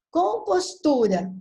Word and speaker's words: compostura: Então, vamos pronunciar? Compostura. Tu é mais forte.